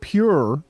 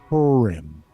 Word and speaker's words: Purim: was like what right so I like to pronunciate it pure like make it pure again purm but unfortunately it's Pim where you pronunciated it was good but yeah